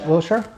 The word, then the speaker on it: Wiltshire: Wiltshire.